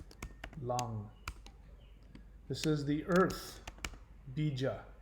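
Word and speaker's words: लं: You'll see it as lam, but it's actually pronounced lang.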